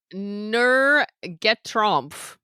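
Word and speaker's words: Nur geträumt: Nur get Trump, I would say, is how it's pronounced.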